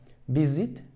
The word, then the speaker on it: visit: la r offa offer visit visit visit it visit visit it sí visit visit it el acento sigue en la primera sílaba visit visited visit visited